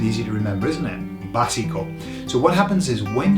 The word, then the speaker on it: básico: Basic, the word basic is básico. Okay, slightly different pronunciation, whereas we say basic, they say básico, but they're going to put an O on the end, okay, again.